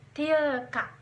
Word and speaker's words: تلك: Nah, kata tilka ini pengucapan dan penulisannya itu tidak ada yang beda, jadi sama, tetap tilka. Itu cara pengucapan tilka tetap tilka.